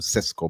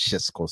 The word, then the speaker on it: Šeško: it hard to cuz I'm used to Cisco, but I understand it's pronounced Shesco.